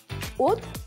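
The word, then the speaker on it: haute: От, H-A-U-T, это произносится как от, это высокая.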